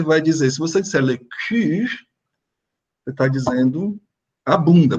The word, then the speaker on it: cul: Esse L não é pronunciado, tá, gente? E aí você tem esse som do U. Lembram do som do U? Aí você vai dizer, se você disser le cul, você está dizendo a